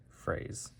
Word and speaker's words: phrase: Remember, phonetically, this would be more of an F. So how it looks here is F-R-A-Z, phrase. And again, this is written with an S, but you might pronounce it more of a Z.